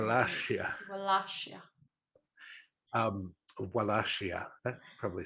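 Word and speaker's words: Wallachia: foreign Invaders the last year last year um wellassia that probably sounds a lot better actually because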